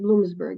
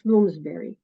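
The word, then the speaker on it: Bloomsbury: Palestine was published by bloomsberry you said Bloomsburg it's bloomsberry uh sorry yeah it's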